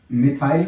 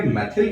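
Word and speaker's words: methyl: कुछ बच्चे इसे मिथाइल भी बोलते हैं, तो भी कोई टेंशन नहीं है भैया जी, सही है प्रोनाउंसिएशन, जो भी आप करना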